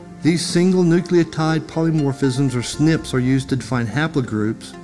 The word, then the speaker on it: SNP: abbreviated to the acronym SNP which is pronounced snip a single nucleotide polymorphism